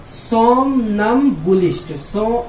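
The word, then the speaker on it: somnambulist: होती है, उसे हम लोग बोलते हैं, इसका प्रोनाउंसिएशन ध्यान से सुनिएगा, क्या है, सोमनम्बुलिस्ट।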